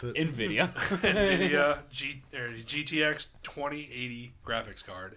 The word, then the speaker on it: Nvidia: to pronounce it. Nvidia.